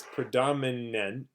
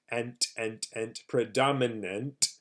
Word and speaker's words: predominant: So this word is predominant, predominant. You can think like it's an ant or something.